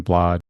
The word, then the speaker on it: Bladh: Her last, Alison Bladh with the H. The H is silent.